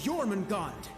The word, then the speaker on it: Jormungand: the greatest military operation in erebonian history operation jormungand so that's how that word's pronounced i can never pronounce those old words